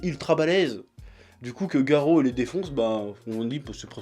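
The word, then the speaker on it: Garou: Bon, apparemment, ça se prononce Garo, je savais pas trop.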